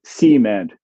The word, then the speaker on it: cement: In some southern varieties, at the very least, you used to get cement, police, Detroit, where the stress was on the first syllable.